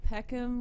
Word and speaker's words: Peckham: Yeah, you say it like Peckham, like bend it like Peckham. Peckham. Oh, So sorry. Peckham instead of Beckham.